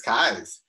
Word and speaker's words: Keyes: then again i've never asked him how to pronounce last name so erica asking him that um i now know it's kai's you learn something new every day it's got